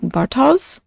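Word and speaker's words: Bartosz: name I can't pronounce I believe it's pronounced something like Bartos but I'm struggling so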